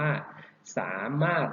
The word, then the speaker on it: สามารถ: นะ ครับ ยก ตัว อย่าง เช่น คำ ว่า สามารถ นะ ครับ รอ เรือ ท้อง ถุง ก็ จะ